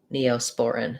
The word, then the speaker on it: Neosporin: poor spore sporan uh and then for the neo there's a little bit of secondary stress there it sounds like an e and an o neosporin so thinking about that like um neo spore in neosporin um now that's a